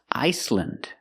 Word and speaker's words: Iceland: Iceland, Greenland, New Zealand. Again, we're pronouncing them with the short sound, lind.